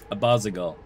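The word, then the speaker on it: Abazigal: to abasa by bathing in your tainted blood abbasigal that's how you pronounce that i'm glad there's voice actors okay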